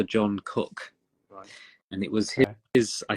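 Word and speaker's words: Coke: was just about to as well so Thomas Cook the travel agents also from Melbourne oh yeah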